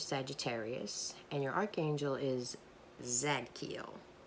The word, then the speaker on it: Zadkiel: and your Archangel is Zack keel I always say Siddiqui oh I don't think that's right so I ask for forgiveness if I'm mispronouncing it can't hurt right but